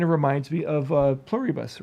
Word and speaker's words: Pluribus: way, it kind of reminds me of uh pluribus, right? Did I pronounce that correct? Pluribbus.